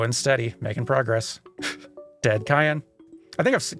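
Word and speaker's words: Cyan: subconsciously I I know I'm pretty certain that both because of the Japanese pronunciation and because of character referenced in Final Fantasy 14 Lord Cayenne who is very clearly a reference to this character also goes with like the hard like k sound Cayenne I'm I am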